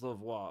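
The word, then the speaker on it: Lauzon: Vegas Zone Vegas gets it out it is laois okay I was right originally before I started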